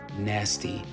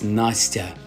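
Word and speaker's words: Настя: And it's definitely not nasty. It's Nastya.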